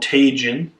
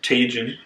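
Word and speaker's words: Tajín: on some of this this is called tun it is a um or yeah tajun that's how you pronounce it this is a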